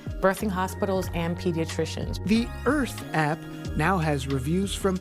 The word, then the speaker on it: Irth: The app is called Earth, which is spelled like the word birth, but we dropped the B for bias, so it's IRTH.